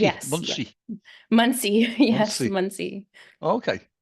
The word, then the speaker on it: Muncie: Is that how it's pronounced in Pennsylvania? Monkey, Yes, yeah. Muncie, Muncie.